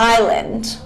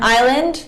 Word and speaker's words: island: So for example, the word isle and island. Isle and island, the S is not pronounced at all.